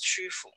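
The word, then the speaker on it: Qufu: idea of this place in shandong is called chufu and it's pronounced with a queue it's hard to pronounce that this is a pinyin spelling and it is called shufu and this is near well let me see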